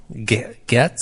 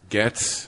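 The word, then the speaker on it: Gaetz: law if passed gates how would you pronounce it g-a-e-t-z says we are a nation of laws gets gets not department-wide memos we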